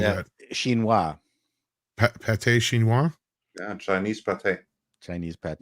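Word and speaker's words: pâté chinois: Anyway, Paul's script, not to get political, but ketchup or no ketchup on your pate chinos. How do you say that? Chinois. Pate chinois.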